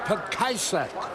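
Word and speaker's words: Petkovsek: Boy, am I glad that Mark Petkajcek is out of the ball game. He spells it P-E-T-K-O-V-S-C-K, and the correct pronunciation, they say, is Petkajcek.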